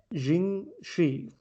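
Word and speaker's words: 僵尸: vampire aspect that you're talking about it's called jing shi i believe is how it's pronounced it is a chinese folklore vampire there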